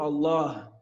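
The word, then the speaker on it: الله: Allah, après le lemme, on a l'impression qu'il y a une prolongation, on a un alif. Mais à l'écrit, on n'écrit pas ce alif. On le prononce, mais on ne l'écrit pas.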